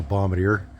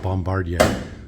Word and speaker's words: Bombardier: But you got to realize in Western Canada, everybody calls it a Bombardier. Literally nobody in Western Canada calls it Bombardier.